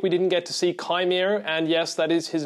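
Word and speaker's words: Qimir: disappointed this week we didn't get to see Chimere, and yes, that is his name. I've been saying Quimere for many weeks now because it's spelled with a Q, but apparently it's pronounced Chimere, so apologies to everyone I offended because of that.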